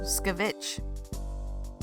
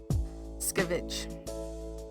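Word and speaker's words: escovitch: Oh, skavvich. The e is silent. Skavich.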